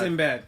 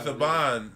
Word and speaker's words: Saban: Sinbad. No, his name is Saban. It's Saban. It's pronounced Saban.